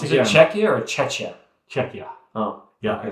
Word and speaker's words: Czechia: Is it Czechia or Czechia? Czechia. Oh. Yeah, okay. it's pronounced.